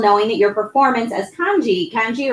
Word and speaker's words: Kanji: does it feel knowing that your performance as Kanji, right? That's how you say it? Kanji?